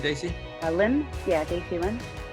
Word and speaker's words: Lim: Yeah, Daisy Lim. Oh, you say Lim. That's an Americanized pronunciation. I'm used to saying Im in Korean, actually.